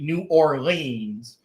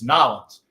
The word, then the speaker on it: New Orleans: and that's how it's that's how you say it because I'm from the south it ain't New Orleans it's nin it's nins and we now know that